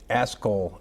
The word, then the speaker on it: Askoll: I'm going to let you pronounce their name. What's the name? ASKOLL A S K O L L Is your Italian getting better now that you've done this?